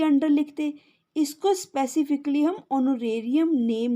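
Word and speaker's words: honorarium: Account में bye doctors ऑनोरेरियम, ओनो ओनो ओनो, ठीक है, ह यानी कि साइलेंट है, ऑनोरेरियम रेरियम 9,000।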